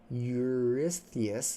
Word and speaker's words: Eurystheus: Eurystheus, there we go.